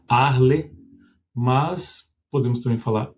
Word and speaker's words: Arles: a pronúncia do francês, provavelmente o francês como se não se fala o S no final, a cidade se chama Arle. Mas podemos também falar Arles, porque nós estamos no Brasil e gostamos da do jogo português.